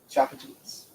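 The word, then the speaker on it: Tchoupitoulas: So that's pronounced Chapatoulas. Chapatoulas.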